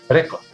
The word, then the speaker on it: record: look at these examples the first word is record the stress on the first syllable the second word